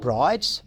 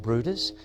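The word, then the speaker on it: Bryde's whale: those species is the bruers whale it spelt like Brides but it actually pronounced Brutus and they're a large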